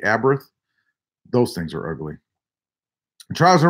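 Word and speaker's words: Abarth: the Fiat a birth so they pronounce it the a birth those things are ugly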